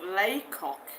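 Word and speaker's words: Lacock: Anne Shaw says near Lecoq, pronounced Laycock.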